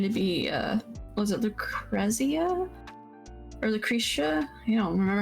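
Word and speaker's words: Lucrecia: appreciate it I think I think it's pronounced Lucretia because they said her name in durge of Cerberus yeah oh my God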